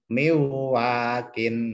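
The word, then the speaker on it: مِن وَاقٍ: Nah, cara membacanya adalah ditahan. Bukan miwakin. Nah, ini kurang. Karena di sini ada nun sukun ketemu wawu.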